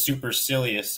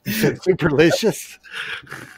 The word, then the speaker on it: supercilious: I think the word is supercilious, actually, and I pronounced it wrong. Superlicious.